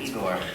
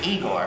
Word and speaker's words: Igor: so you must be Igor no pronounced I go but they told me it was Igor well they were wrong words they did you